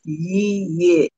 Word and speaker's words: Yeyia: Two syllables, Yeyia.